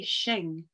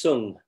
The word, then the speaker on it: Sung: How do you pronounce your surname? Because I say Shing. Right, it's pronounced Sung. Sung. Yes, and there's no H sound in there. It's just Sung.